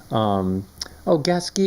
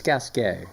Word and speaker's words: Gasquet: Gasquet was another, or it's Gasquet, is how it's supposed to be pronounced. It's French.